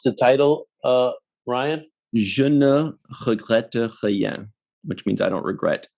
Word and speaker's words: Je ne regrette rien: How do you pronounce the title, Ryan? Je ne regrette rien, which means I don't regret anything.